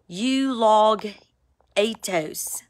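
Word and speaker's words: εὐλογητός: voices Matthew 7 The Log and the I you log atos that's how it's pronounced you log at toast you gone you eaten you are devoured y'all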